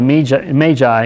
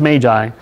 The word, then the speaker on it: Magi: The last time we saw in part one of our series on the Magi, and it's pronounced Magi, I have a bad habit of pronouncing Magi, but it's actually Magi, who came seeking He was born King of the Jews.